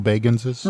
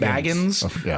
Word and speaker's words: Bagans: Of the Underhill Baganses? Right. He actually specifically pronounces his name Bagans because his actual name is Baggins, but he hates when people say that.